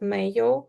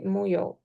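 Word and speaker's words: 没有: Instead of mayo, you say muyo.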